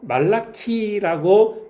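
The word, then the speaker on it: מלאכי: 히브리어로 말라키라고 발음하는데 하나님의 이 부름을 받은 하나님의 말씀이었던 선지자의 이름이라는 거죠.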